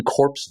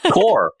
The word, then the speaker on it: Corps: Core. Core. Core. Why do you not pronounce the P and the S?